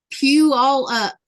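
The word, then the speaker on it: Puyallup: Pew all up.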